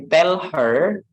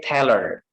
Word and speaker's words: tell her: H preceded by verb or auxiliary is silent. Okay, itu H-nya nggak dibaca. Contohnya, example, tell her. We didn't say tell her, but we say tell her.